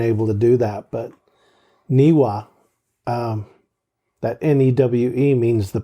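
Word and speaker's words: Newe: to us and the shoshone people were always niwa that's how it's pronounced beautiful people there's a picture that top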